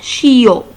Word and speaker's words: chiot: Un chiot. Un chiot. IO se prononce yo.